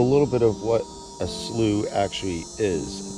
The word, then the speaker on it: Slough: so a little bit of what a slew actually is spell SLO ugh not pronounce Slav salut so at the six mile Cypress Slough